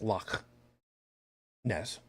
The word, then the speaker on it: Loch Ness: state by way of Loch Ness I'm sorry pronounced properly as luck Ness called you have the